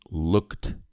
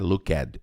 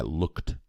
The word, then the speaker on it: looked: To look, looking, looked. Essa letra E não é pronunciada, não é looked, é looked. Looked.